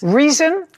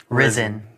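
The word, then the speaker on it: Rizin: Reason. Risen. Risen. Spell it.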